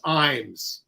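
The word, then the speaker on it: Ijames: viewer Andrew of California the correct pronunciation of the playwright of fat ham is James eins okay and Alex Newell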